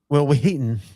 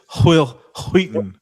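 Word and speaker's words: Wil Wheaton: Will Wheaton had a great series from between like 2011 and 2014 where You're not pronouncing his name right. Will Wheaton. It's Will Wheaton.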